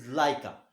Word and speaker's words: Laika: Second one is Laika.